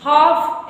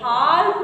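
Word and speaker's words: half: जाएगा साइलेंट हो जाएगा हाफ एच ए एल एफ एच ए एल एफ हाफ पढ़ेंगे हाल्फ मत पढ़ना टट अब देखो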